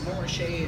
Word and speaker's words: Montrachet: But in my opinion, Côte de Beaune in regions that, if you see a label that says Montrachet, I pronounce it Montrachet and Francais, but just top of the line Chardonnay.